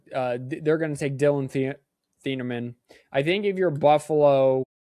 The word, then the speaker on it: Thieneman: Do you go safety in Dylan Thiemann? I said his name wrong. Thieneman from Oregon.